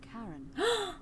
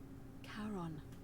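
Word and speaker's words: Charon: it's just as you described it only your pronunciation is a little off the name you heard wasn't Karen it was c h a r o n as in karon the Fairman of the Dead karon who in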